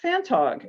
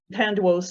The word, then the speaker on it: Phantog: Okay, so who's Pan Duo? She is in fact Phantog, and so historians have been getting her name wrong for decades.